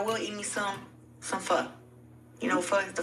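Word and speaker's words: pho: Yeah, but it's f. But they call it fur. They say we say it wrong. It's f. P h o.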